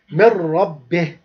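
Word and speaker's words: من ربه: Here we make إدغام but without غنة. إدغام بلا غنة. إدغام بلا غنة. إدغام without غنة. So we say من ربه.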